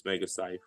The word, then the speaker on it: Megacyph: Everywhere you look, it's Megacyph. Rhymes with life.